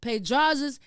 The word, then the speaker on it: Pedraza: You may know him by SunHands, but if you know him personally, you know him by Jesus Pedrazas.